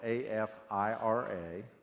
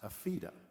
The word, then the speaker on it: Afira: And it's spelled A-F-I-R-A, but it's pronounced Afira.